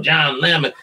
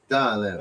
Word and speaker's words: Don Lemon: You know, John Lemon, which everyone knows I am not a John Lemon fan. Don Lemon.